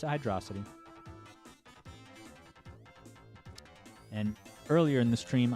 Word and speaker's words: Hydrocity: I pronounce it Hydrocity.